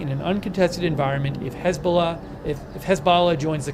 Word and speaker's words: Hezbollah: could be a targeted uh Wikipedia pronounces it hez Bala that's the Wikipedia pronouncement of Hezbollah I've heard it Hezbollah I've heard it Hezbollah the Wikipedia pronouncing pronunciation is hez Bala um he also says